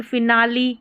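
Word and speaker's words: finale: देखिए फिनाली, यहाँ पर उच्चारण है फिनाली, ली है ना, ई का उच्चारण।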